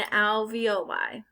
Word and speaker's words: alveoli: trachea bronchi lungs and alveoli sounds like you're saying ravioli but the alveoli is